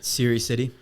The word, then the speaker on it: Serhiy Sidey: How do I pronounce it? Serhiy Sidey.